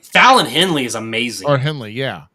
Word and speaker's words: Fallon Henley: names the wrestler Gloria no that's how you pronounce oh yeah Carmen yeah look Carmen Petrovic what about what about Fallon Hensley Fallon Henley is amazing or Henley yeah yeah um that